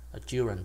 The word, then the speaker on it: children: Nhưng mà khi mà nó biến thành chữ children đó, thì nó lại thành short I, nó đọc là âm y đó, children chứ không phải là children nha.